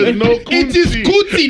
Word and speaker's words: Kuti: It is Kuti, not Kun. It's Kuti. Oh, Kuti, Two not syllables.